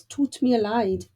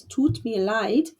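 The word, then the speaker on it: tut mir leid: so we need is toot me a lied four words but that's how we say I'm sorry in German it's taught me a light that's just doesn't go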